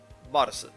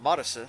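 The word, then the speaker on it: マルス: Japanese doesn't have a TH sound, so the Su character takes its place. A direct conversion of Marisu, therefore, leads to Mars.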